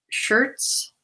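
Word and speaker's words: Schertz: that went to shirt shirts looks like shirts but it's spelled s-c-h-e-r t-z-t-z shirts texas there's my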